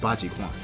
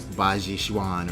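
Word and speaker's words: Bajiquan: And I know it's not pronounced Bajikwan, okay? But please bear with me through the duration of that video, because I'm going to be pronouncing it incorrectly all the way through. I know it's something like Bajishuan or whatever, I don't know.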